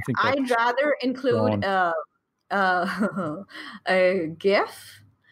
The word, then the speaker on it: GIF: I'd rather include a GIF. I always confuse because I call it GIF, but I've had conversations with people who say, no, it's GIF. It's a hard G.